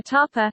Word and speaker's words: tapa: Top comment: a tapa, Spanish pronunciation, tapa, is an appetizer or snack in Spanish cuisine and translates to small portion of any kind of Spanish cuisine.